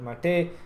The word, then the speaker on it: MATE: mate instead of calling M they call it mate Kaja Kaja which which how we pronounce normally is pronounced as kaha anyway moving